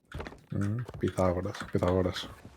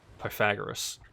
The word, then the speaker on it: Pythagoras: Pythagoras. Yeah, the rest of the world pronounce it Pythagoras. Inaccurate.